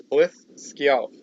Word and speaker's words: Hlidskjalf: It says pronounced roughly Blith Skjalf. So yeah, it was pretty close. With the Y being a slide vowel, like the Y sound in few.